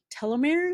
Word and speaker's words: telomeres: And the research from 2019 in the psychosomatic medicine linked mindfulness practices to longer telomeres.